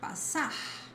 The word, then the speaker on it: passar: It always sounds like s, a clear voiceless S sound, like passar, passar.